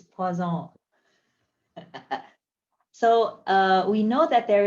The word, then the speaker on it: Poisson: Oh, look at this nice pronunciation. It's Poisson.